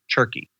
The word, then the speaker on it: TERCI: And if you take these time, energy, relationships, capital, and intelligence, it kind of spells TERCI, which I pronounce turkey.